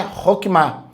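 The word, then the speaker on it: Chokmah: A maneira de falar é Roquimá. Se escreve Choquimá, tá? É uma transliteração, mas a maneira como a gente fala é Roquimá, tá?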